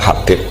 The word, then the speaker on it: Habib: Itu di harokatnya kitab itu ada yang nulis Hubab. Tapi yang benar, oh enggak, yang benar itu bacanya Habib.